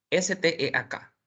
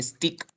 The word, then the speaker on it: steak: S-T-E-A-K. Ujú. Tú lo dirías, normalmente los estudiantes dicen stick, pero stick significa palo, es steak.